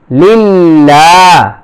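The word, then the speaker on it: لله: দু আল হাম দু লাম লাম জের লিল লাম খারা জবর লা লিল্লাহ লিল্লাহ হা জের হি লিল্লাহি আলহামদু লিল্লাহি র বা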